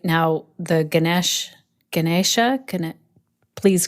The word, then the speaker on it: Ganesh: i just want to say now the ganesh ganesha can it please correct me on my pronunciation yeah i say ganesh this t-shirt is